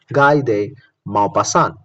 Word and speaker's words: Guy de Maupassant: Remember the spelling: Maupassant. Maupassant. Maupassant. Maupassant. Pronounced as Guy de Maupassant.